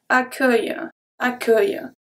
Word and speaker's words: accueil: So it's a bit like you say ac, and then œil, like your eye, accueil, okay? So the U is here to make sure that the C stay into a hard C.